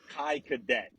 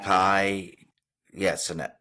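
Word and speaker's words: Kai Cenat: Think about someone like Kai Cadet. I said his name wrong. You say it. What is it? Sinet? All right, this guy. Kai, Sinet.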